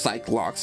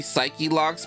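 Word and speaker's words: Psyche-Lock: That guy, but not to be that guy, but apparently they're pronounced psych locks. I also thought that they were supposed to be psyche locks, but someone said that they're doing it on purpose for the bit.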